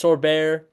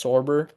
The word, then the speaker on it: Sorber: Thomas Sorbar, Sorber or Sorbet, I I'm not sure exactly how you pronounce his name. I believe it's Sorber.